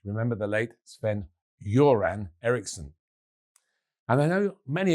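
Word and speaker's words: Göran: Of course, the G is often soft in Swedish. Remember the late Sven Yuran Erikson.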